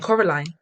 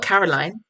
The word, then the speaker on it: Coraline: name wrong you know they kept saying coraline not caroline not caroline at all he picked up